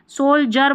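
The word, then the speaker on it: soldier: ये देखिए सोल्जर बोलते हैं, डी आई है ना, यहाँ पर देखिए डी यू है, डी ई है, डी आई है, तो ज पढ़ रहे हैं।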